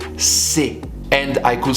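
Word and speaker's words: ces: have a common plural these which will be pronounced si and i could say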